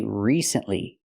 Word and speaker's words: recently: say it like that we say recently we have to use a long e sound like green beans re recently not recently